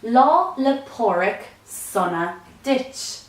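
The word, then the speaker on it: Lá 'le Pádraig sona duit: Patrick's Day some interesting things you might have picked up on their law Lepore ik sauna ditch is how you say happy st. Patrick's Day in Irish more time law Lepore ik summer ditch the full form of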